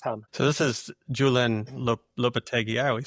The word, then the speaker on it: Lopetegui: So this is Julian Lopetegui. I always say his name wrong.